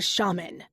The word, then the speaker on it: shaman: Instead, I get a shaman, which rhymes with ramen, as in ramen noodles.